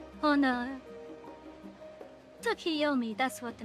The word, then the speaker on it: Tsukiyomi: Although I wouldn't be opposed to, Sukimori. Did I say her name right? Oh no. Tsukiyomi, that's what the name was.